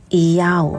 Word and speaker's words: IAU: The Yod as Iota, Hey as Alpha, and Vav as Omega, pronounced as Iyau.